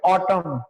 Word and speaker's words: autumn: अब ब्रिटिश में है ऑटम, ऑटम, इसकी स्पेलिंग पर आप ध्यान देखना, AUTUMN, दैट इज ऑटम, है ना, AUTUMN, ऑटम। तो एन यहां पर साइलेंट है।